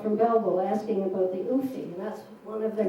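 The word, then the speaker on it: Ouphee: A man named Coleman wrote from Belleville asking about the Oofy, and that's one of their many canoes, but it's spelled O-U-P-H-E-E for some reason.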